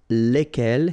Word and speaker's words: lesquels: And the good news is that phonetically, it's lesquels here for the masculine form and then lesquels for the feminine form, all right? So phonetically, it's exactly the same when we talk about the plural form here, but then if